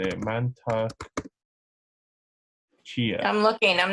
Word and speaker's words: Mantak Chia: Mantak Chia.